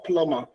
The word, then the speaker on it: plumber: Plumber or plumber? The correct, you'll get the correct pronunciation later, okay? But it's plumber. The B is silent, you don't pronounce the B, okay?